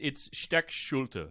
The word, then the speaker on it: Steckschulte: It's Steckschulte. Steckschulte. But Americanized in some stupid fucking way. He's just like, no. We pronounce it Steckschulte.